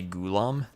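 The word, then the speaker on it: Ghulam: Gulam. I was told I was told that it's the second syllable that needs to be emphasized.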